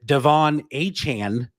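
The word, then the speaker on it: De'Von Achane: Miami Dolphins that is and his print the pronunciation has changed several times here on this young man's name but Devon a Chan I think I got that right that's right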